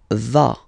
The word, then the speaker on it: vas: Final S doesn't exist. Tu vas. Tu vas.